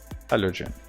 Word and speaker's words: Halogen: I need to see how to pronounce this, because I'm all the time saying something differently. Halogen.